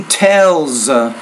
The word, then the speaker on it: tells: Usually tells. You want to make sure you put S on your third person singular verb there, and even pronounce it as a Z because it comes after a voice consonant.